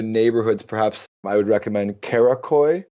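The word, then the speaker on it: Karaköy: perhaps I would recommend kakoy not kadikoy kakoy is a very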